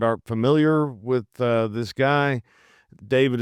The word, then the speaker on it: D4VD: David is spelled D4VD, and the song came out in 2022.